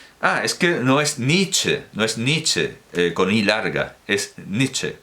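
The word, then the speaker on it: Nitzsche: ser en vocal trabada, o por lo menos en inglés se pronuncia con I larga.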